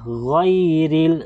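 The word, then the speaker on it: غير: Tapos yung ya po dito ay hindi po siya mad. Okay, bagkus silent letter lang po siya. Wala po siyang trabaho dito na mad. Huwag mo siyang pahabain. Okay, kasi po ay silent letter lamang po siya.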